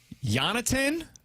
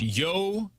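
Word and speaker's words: Jonatan: Jonathan Barren. Oh, is that really how you pronounce it? According to hockey reference, it's Yonaten. Yonatin Barren is the newest member of the St.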